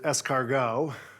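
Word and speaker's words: ESCARGOT: cgd CU and Noah we pronounce it es cargo that maybe is uh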